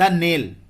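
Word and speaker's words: knell: द नेल, ठीक है, नेल में यहां पे के साइलेंट है।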